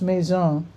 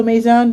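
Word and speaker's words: Maizon: Ma, I'm assuming this is pronounced maison. M A I Z O N. I know with an S it means house in French. So maybe they're being cute.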